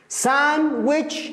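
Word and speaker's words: sandwich: ساندويتش الدي لا ينطق، ساندويتش الساندويتش يعني الساندويتش الشطيرة، فقط ضيفي اس، شوف على شيء صعب يعني.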